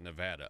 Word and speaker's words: Nevada: ever hear of the Nevada I'm sorry they pronounce it Nevada up there you ever